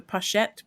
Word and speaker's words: pochette: um but also the maple leaf pot is pronounced the pochette pochette pochette you push it